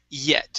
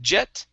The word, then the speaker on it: yet: last one here is yet instead of jet it's yeah yet yet great great all right